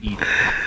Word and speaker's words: EDI: Why are you named Edie? Edie is the airlock is pronunciation ajar.